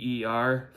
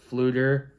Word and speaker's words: Pflueger: Pflueger is spelled with a P, F, not just with an F. It's a silent P. It's Pflueger, Pflueger.